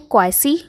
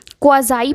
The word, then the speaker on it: quasi: तो फ्रेंड्स, इसे बहुत लोग पढ़ते हैं क्वासी, लेकिन हम इसे क्वाज़ाई पढ़ते हैं रियल में इसका प्रोनाउंसिएशन होता है क्वाज़ाई पैसिव।